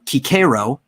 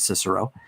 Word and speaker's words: Cicero: vulgar romani which um kikero said you're supposed to say his name it was pre-octavian it's not cicero kikero even wrote himself that